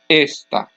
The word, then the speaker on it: esta: for example esta esta when I say the first word the last syllable is the loudest and there's a written accent mark but when I'm saying the second word the next to last syllable is the loudest syllable but but there is